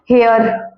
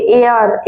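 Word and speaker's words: hour: यूज़ होगा है ना हियर अब आप कहोगे हां हेयर हेयर अह इसको हेयर नहीं हियर नहीं पढ़ते एयर एयर एच साइलेंट होता है इसमें एयर तो यहां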